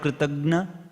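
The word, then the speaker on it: kṛtajña: So the word Kritagna, what is the word Kritagna? It is not Gya, Gna. Kritagna. That pronunciation itself is gone now.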